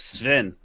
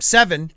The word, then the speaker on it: Sven: No, you're saying it wrong. It's Sven. No, that's wrong. That's all right. It's Moving on. better than what I was saying. I was calling him Seven. when It's he first came actually on.